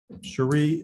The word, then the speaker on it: Cherie: sir we have uh cherie ilse is that correct i'm sorry that's okay it's it's spelled that way but my mother pronounced it sherry so yeah 1605 sandbar